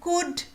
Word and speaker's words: could: Could. Should. L is silent in both.